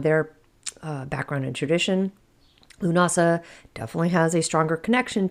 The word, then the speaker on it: Lughnasadh: So whether you call it lunasa, maybe you call it llamas, either way, the wheat is golden, the magic is ripe and it is time to celebrate the work that we've done for us here today. I personally call it Lunasa. So that's that's what I will say moving forward.